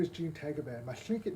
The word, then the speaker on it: Tagaban: In the Philippines, it's pronounced as Tagaban.